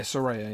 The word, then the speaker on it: Saraya: Saraya? How do you say it? Yeah, well, yeah, Saraya, yeah.